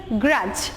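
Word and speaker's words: grudge: শিখবা plus হচ্ছে pronunciation স্পেলিংটা হচ্ছে জি আর ইউ ডি জি R pronunciation হচ্ছে গ্রাজ অর্থ হচ্ছে মেনে নিতে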